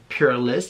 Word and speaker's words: Purlisse: I believe it's called Purlisse, the skincare brand. It comes with skincare and body care, and let's get started. Okay, so Purlisse, that's how you pronounce the company name.